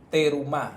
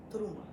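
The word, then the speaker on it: תרומה: se llama te terum terumá terumá pero en hebreo es truma truma trum trum truma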